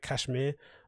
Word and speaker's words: KSHMR: marshmallow it's like ks i was like cashmere they pronounced that kshmr uh skrillex w w